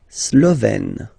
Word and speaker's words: slovène: La Slovénie, so only one form here, Slovène. Slovène. Remember, E accent grave, you open it.